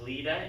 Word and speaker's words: Lida: I wrote myself a note saying it's pronounced Lida, L-E-E-D-A is how it sounds, but it's L-I-D-A.